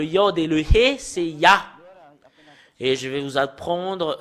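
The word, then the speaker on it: יה: Pour Yod et He, c'est... Cela devient I, soit I ou I, parce que c'est AH qu'on le prononce, c'est Yah.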